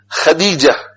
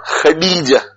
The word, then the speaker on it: Khadija: Khadija, not Khadija. Khadija, Dal. And every Muslim is able to pronounce Dal. Non-Muslims will find it difficult to pronounce Dal, because there is only D. There is no D. But we learn the Quran, Alif, Ba, Ta, Sa, Jim, Ha, Kha, Dal. It's very easy for us to pronounce Dal, Khadija.